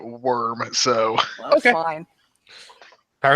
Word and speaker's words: wyrm: See, I always thought it was pronounced Wyrm. I just want to know how it's pronounced. Um, I'm not sure if it there's is, then my badsies. No, it's funnier this way. I know that Chris Perkins, one of the major writers for Dungeons and Dragons, pronounces it worm.